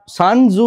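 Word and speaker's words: Sun Tzu: ছিলেন তার নাম হচ্ছে সানজু এস ইউ এন সান টি জেড ইউ সানজু স্পেলিংটা মানে প্রোনাউন্সিয়েশনটা তো সানজু যে কথা যে কথাটা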